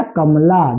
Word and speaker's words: कमला: तो ए लगा दिए, म का क्या हो जाएगा, एम हो जाएगा, यहाँ पर ए का प्रयोग नहीं होगा उच्चारण के अनुसार से, और ल का एल लिख देंगे, और आकार का ए लिख देंगे, तो क्या हो गया, कमला।